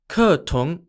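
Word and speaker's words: Cờ tướng: and also in vietnam where it's known as kertung and is spelt c-o-t-u-o-n-g apologies to anyone who speaks vietnamese that was probably a very bad pronunciation according to data published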